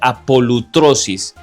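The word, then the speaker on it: ἀπολύτρωσις: pronuncia como lutro, y también apolitrosis, que se pronuncia apolutrosis.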